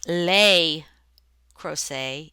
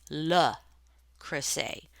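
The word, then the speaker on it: Le Creuset: It is not le crochet, it is le crochet.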